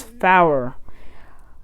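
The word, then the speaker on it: four: Numbers have a slightly different pronunciation, such as 9 is Niner, 4 is Fower.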